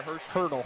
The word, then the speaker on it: Hurdle: We're going to have Lainey Ziliak, number 10, number 14, Anissa Tonkel, number 20, Leah, how do you say the last name there? Hurdle. Hurdle, there you go.